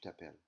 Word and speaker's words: appelles: Appel is going to sound the same, right? Je m'appelle, tu t'appelles. So the S is actually silent. It's a lettre fantôme, a phantom letter.